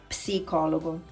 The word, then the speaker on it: psicologo: In English, you don't pronounce psychologist, you don't pronounce the P, but in Italian, you have to pronounce it, okay? It's not psicologo, but it's psicologo, psi, okay?